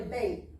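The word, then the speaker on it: בית: how we got Beth so it'll say benchtore on there but it's really bait bait Sora but they were transliterate with a th so that's just the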